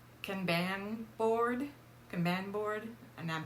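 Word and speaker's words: kanban: one is called the I'm not probably gonna pronounce it right but it's can ban board command board and I'm probably not pronouncing it correctly it's k-a-n-b-a-n caban board all right so that involves three different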